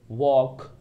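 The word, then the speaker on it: walk: ऐसे ही आप चौक का आसानी से लिख सकते हैं, चौक, वॉक, टॉक, इसमें सभी में L साइलेंट होगा।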